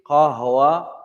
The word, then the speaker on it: قهوة: Qahwa is coffee. Qahwa sounds just like that. That one is easy, ikhwan. Sounds like coffee.